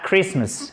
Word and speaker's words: Christmas: c'est en seat sourire oh my god a christmas et vous souvenez ici c'est un est court et on ne prononce pas le tc pas à te christ